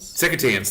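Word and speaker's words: Secotan: Secretans, there you go. That's how it's pronounced.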